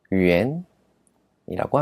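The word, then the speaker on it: 元: 많이 이야기를 하지 이것은 중국의 화폐 단위입니다 중국어 발음으로는 엔 위엔이라고 합니다 중국의 수도는 베이징 베이징 있니다 행정 구역은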